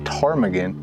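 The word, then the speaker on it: ptarmigan: can't blame them cuz I had no idea that tarmigan started with a p and like I thought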